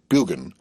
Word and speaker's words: Burgoyne: Nutting had a famous foxhound named Burgoyne. He pronounced it Bugan, which my informant used to borrow.